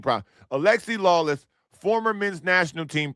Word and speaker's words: Alexi: Because Lexi Lawless, buddy, listen, Lexi Lawless sounds like a loser. Not like Alexi. I want to pronounce his name properly. Alexi Lawless, former men's national team player, sounds like